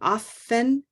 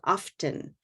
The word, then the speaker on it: often: There can be a T that's pronounced, or it can be silent. That's one of these words that has two different ways that it's said, right? It can be often or often, but the connection's important.